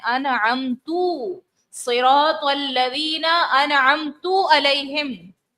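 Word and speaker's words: أنعمتَ: अनअमता, अनअमता, ता, ठीक है, लफ्ज है ता पर जबर है।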